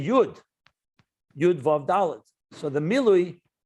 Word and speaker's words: yud: dot when you spell it out when you pronounce it you say jud you advocate so the miloi in kabbalah refers